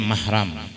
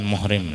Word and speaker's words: mahram: Jadi nang bujur membacanya mahram, bukan muhrim lain. Kalau muhrim itu orang berumrah, haji atau umrah. Muhrim artinya orang berumrah. Tapi nang bujur mahram.